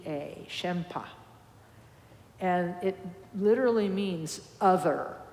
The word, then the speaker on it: shenpa: the Tibetan term uh called shenpa and I'll spell that in English s h e n p a shempa and it literally means other aware you know